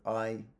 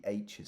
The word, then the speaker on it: hay: So, hay, hubo, había, habría. And notice that the H is silent. La H is silent. So, I, it's not hi, I.